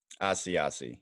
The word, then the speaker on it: Asiasi: Asiasi, yes. Asiasi. Like an Asiago bagel, but no G.